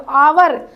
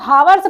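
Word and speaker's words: hour: तो आवर, दोस्तों पहली बात प्रोनाउंसिएशन पे आप लोग ध्यान दीजिएगा, अगर आप लोग हावर्स पढ़ेंगे तो पक्का गलत करेंगे, अगर आप उच्चारण सही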